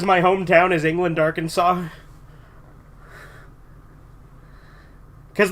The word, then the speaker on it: Arkansas: and the fact that he pronounced it AR Kanas made it even better yeah yeah it's Arkansas which is why um